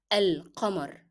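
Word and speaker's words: القمر: Here the sound of lam is very appearing, and that's because lam itself is carrying sukoon and it is not followed by a shadda letter. So you normally pronounce the sound of lam.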